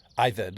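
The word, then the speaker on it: עבד: The Hebrew word there is ibed. Ived is how you say it.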